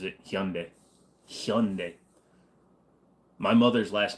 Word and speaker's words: Hyundai: hear all them country bumpkins calling it a Hyundai no the guy that runs the goddamn company pronounces it hund hund my mother's last name is H go ahead